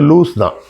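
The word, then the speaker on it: Luz: அங்க உருவாக்கப்பட்ட அந்த முதல் சர்ச்சுக்கு பேரு லூஸ் சர்ச் அப்படின்பாங்க. நம்மளுங்க வந்து பழக்க தோசலத்துல லஸ் சர்ச்ன்னு நம்ம சொல்லுவோம். அதோட சரியான உச்சரிப்பு வந்து லூஸ்தான். லூஸ் சர்ச் அப்படின்னா என்ன அர்த்தம்னா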